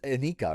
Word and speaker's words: Annika: Annika definitely, or is Anika, right? Is how you pronounce her name.